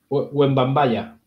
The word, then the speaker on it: Wembanyama: Tú lo sabes pronunciar mejor esto. Wembanyama.